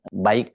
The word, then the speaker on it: BAIC: Ini nggak main-main, ini terdiri dari Toyota Land Cruiser, Mercedes-Benz, dan satu lagi mobil merek baik, bacanya begitu ya, BAIC.